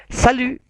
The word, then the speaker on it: salut: yang tidak formal, yaitu salut. T-nya hilang ya, huruf konsonan terakhir selalu tidak diucapkan. Bukan salut tapi monyong u-nya. Salut.